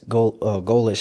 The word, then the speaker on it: Golesh: But I think going back to Alex Golesh, that's how you say it.